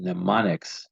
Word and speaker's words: mnemonics: working with your peers memorizing and mnemonics yes the MS is silent there are some specific